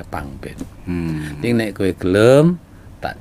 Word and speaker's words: Pangben: Pangban dibacanya Pangben.